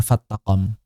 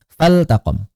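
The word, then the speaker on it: فلتقم: Karena hati-hati di sini lamnya lam lam fi'il. Jangan dikira lam jangan dikira lam syam lam syamsiyah sehingga nanti diidgamkan fattaqom fal taqom afan lamnya lam amr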